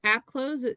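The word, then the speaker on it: AppClose: And then um there is an app called Applose. It's spelled Ap close c l o s e.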